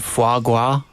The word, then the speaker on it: foie gras: They can eat foie gras. Is that how you pronounce that?